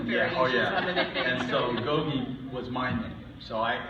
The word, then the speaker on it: Gogi: at the time that people might not be able to pronounce it correctly I thought how did you mispronounce that there you go everybody calls it Goji drives me crazy I